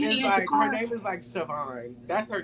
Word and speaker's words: Siohvaughn: I think that's how it's spelled. LMNOP. I don't Siohvaughn. know. It's Siohvaughn.